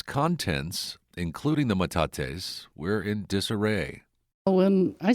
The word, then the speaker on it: metates: I first visited last December and recently returned to find out more about some ancient rocks on display called metates. Is that how you pronounce it?